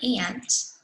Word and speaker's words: aunt: Now, the word aunt can sometimes, it's always spelled like this. Sometimes people say aunt, and some people say aunt. Some people say aunt, some people say aunt. Both are correct, okay?